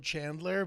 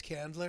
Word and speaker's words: Candler: which was really nice is that spelled Chandler but no if you know better it's Candler no it's spelled without the H candle with an R yeah and that was